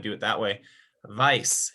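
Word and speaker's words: weiß: do it that way vice is white why situation bison vice and that one uh once again sort of sounds like the english word white on the pie so white yes vice so let me just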